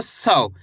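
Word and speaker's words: सौ: इसकी मात्रा को भी औ करके पढ़ेंगे स में लगी तो सव। ऐसे नहीं पढ़ना 100। अगर आप सो पढ़ दोगे तो ओ की मात्रा का उच्चारण हो जाएगा।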